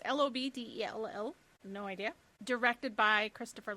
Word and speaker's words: Lobdell: But it is written by Scott, I do not know how to pronounce this, Lobdell? It's Lobdell.